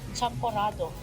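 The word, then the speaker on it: champorado: How do you pronounce that? CHAM-PO-RA-DO And what is it?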